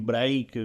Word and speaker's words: break: Break, attenzione qua, l'inglese Attenzione, qua. ragazzi, Perché poi abbiamo- se perché voi mi volete fai facendo. pronunciarlo come cazzo vi pare, fate quello che vi pare, però sarebbe break.